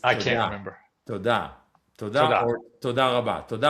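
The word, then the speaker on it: תודה: Todah.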